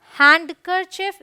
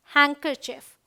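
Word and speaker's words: handkerchief: कि exceptional words हैं इट्स नॉट हैंड करर चफ इट्स हैंकर चफ okay तो यहां डी साइलेंट है यहां देखिए हैंडसम बोलते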